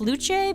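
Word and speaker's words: Luce: that character I think her name is pronounced luche because you know Italy um it's that uh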